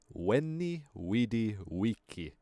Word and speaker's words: veni vidi vici: etc etc etc or if you want to pronounce it the proper Latin way at Catera Etc also it wasn't a veni vidi vici it was Wendy weedy Wiki Wendy with the wiki